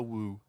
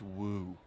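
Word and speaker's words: wewe: Who is woo. using that word? It was just W-E-W-E. Let's call it a woo.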